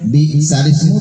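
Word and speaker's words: بئس الاسم: Bi'salismu tulisannya bi'salismu, bacanya bi'salismu.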